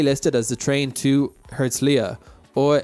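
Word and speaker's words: Herzliya: as the train to herzlia or erzalia as Israelis pronounced it with a silent h you can tell you're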